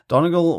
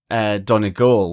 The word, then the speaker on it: Donegal: I'm wanting to pronounce it like Donegal, which is, one of the counties in the northwest of the country. Yeah. But everyone's saying Donegal.